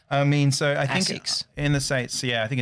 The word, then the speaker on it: Asics: Asics. Yeah, Asics.